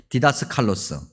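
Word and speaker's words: διδάσκαλος: 이 단어들을 좀 명확하게 구분하기 위해서 헬라어 발음을 좀 얘기해야 되는데, 디다스칼로스, 이건 일반적으로 선생님이라고 번역되는 거예요.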